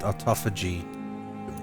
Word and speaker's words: Autophagy: I can't get Autophagy. That's how it's pronounced.